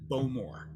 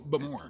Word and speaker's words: Bowmore: is called bow more i struggle like i first heard it as bo moore emphasis on the first syllable when when i was there i think the emphasis is on the second syllable but more definitely and